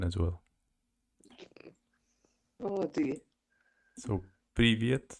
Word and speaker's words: привет: So, привет, it's written like this. Привет. Привет. Привет. Oh. Can you hear me accent even when I say that? I hear that you can't pronounce the letter R.